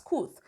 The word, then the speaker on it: Kooth: If you're here in the UK, we have KOOT, spelled as KOOTH, pronounced as KOOT.